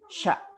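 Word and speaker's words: ش: Ya, hurufnya adalah sya, satu saja. Ketika kita mengucapkan huruf sya itu ada udara yang menyebar di dalam mulut kita, gitu ya. Jadi tidak sa.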